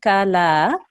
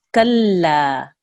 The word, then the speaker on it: كلا: We're not saying kala, we're saying kalla, right? So we really have to harden that mushaddad lam.